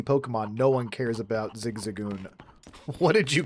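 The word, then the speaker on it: Zigzagoon: No one cares about Zigzagon. What did you call me? Listen, legitimately, uh you've got a point. Nobody wants Zigzag.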